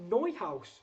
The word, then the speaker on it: Neuhaus: And Tom says, hope you don't mind me correcting, Kate, it's pronounced Neuhaus. Sorry, really? Florian Neuhaus. That makes sense. I mean, I'm still going to call him Newhouse.